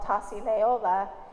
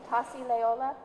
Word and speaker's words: Tasi Leola: It's called Tasi Leola, and I just said it wrong, so say it right for me. Tasi Leola, Yeah.